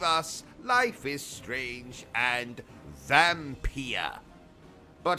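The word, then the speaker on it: Vampyr: life is strange and vampire uh vampire what it's pronounced vampir you're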